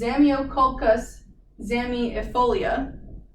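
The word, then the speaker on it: Zamioculcas zamiifolia: because it's real latin name is crazy to pronounce it's zamyocolcas zami efolia if you can remember that um but other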